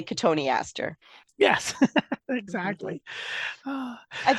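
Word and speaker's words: Cotoneaster: that's Mis mispronounced because people sound it out and it's spelled like cotton Easter but it's really Katon Aster yes exactly I sound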